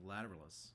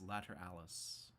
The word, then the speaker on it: Lateralus: for the last year i keep on saying lateralus but apparently it's later alice that's uh uh what the drummer said in an interview anyways he said later alice so that's my favorite